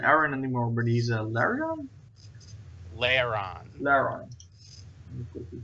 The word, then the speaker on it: Lairon: So it's Piston is not an Aaron anymore, but he's a Lairon. Lairon. Lairon. Let me quickly just check how that is spelled. Like Aaron, only with an L.